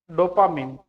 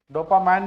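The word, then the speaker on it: dopamine: डोपामीन hypothalamus एक hormone और बनाता है डोपामीन। डोपामाइन भी बोल सकते हो, डोपामीन जो भी है प्रोनाउंस करो।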